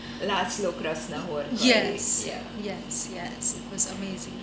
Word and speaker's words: László Krasznahorkai: Sorry, the Hungarian author, and I don't know how to pronounce his name. László Krasznahorkai.